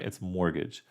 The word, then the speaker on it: mortgage: house mortgage and the by the way mortgage the t is silent all right it's mortgage a fortnight yes you